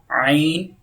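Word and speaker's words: ع: Ain. Well done. So ain will produce from middle throat, okay? Middle throat. Ain. Ha. Both letter produce from middle throat. So this is middle throat.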